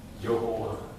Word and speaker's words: 여호와: 여호와. 우리가 야훼라고도 읽기도 하고 여호와라고. 이스라엘 백성들은 그 여호와, 야훼라는 단어를 쓰지 못합니다. 어떻게 읽습니까? 야훼라고도 쓰지만 아도나이, 주님이라고 읽지.